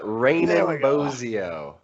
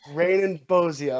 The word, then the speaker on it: Raanen Bozzio: correct right close enough it's uh raining bozio rain and bozia okay yeah cool it's a weird one though i don't expect you to know how to pronounce it or i really don't expect anybody to know how to pronounce it it's it's quite confusing i've been friends with people for a whole year of my life that still called me they just they looked